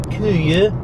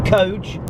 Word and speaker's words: Køge: My aim today is to go to Køge, as it's pronounced in Denmark, or Køge, as anyone who's British looks at a map.